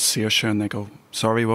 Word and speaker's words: Saoirse: And she says, Saoirse, and they go, sorry, what was that? She says, Saoirse. Seesaw? No. Saoirse. Shoshe? No. Saoirse. How do you spell it?